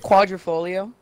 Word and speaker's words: Quadrifoglio: The way you pronounce that, I love it. What, the quadrophogliogliogli? Is it quadrifoglio?